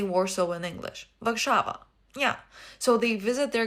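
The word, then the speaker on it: Warszawa: Vakshava.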